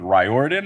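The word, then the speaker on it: Riordan: wrote the book but it's a mispronunciation of his last name I guess cuz it would be two on the nose if the character was named Ry Orin and not rean was it an intentional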